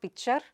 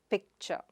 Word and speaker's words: picture: It is not pichuer, but pic-ture.